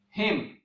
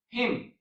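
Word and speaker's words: hymn: example mnemonic device and there are a few words that end with MN but in these words the letter n is silent for example autumn column damn him so these are the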